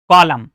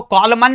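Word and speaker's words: column: कॉलम इसको कॉलमन तो नहीं बोलते। कॉलमन क्योंकि एम के बाद एन आ रहा है तो यह भी प्यारे बच्चों क्या होता है? साइलेंट होता है।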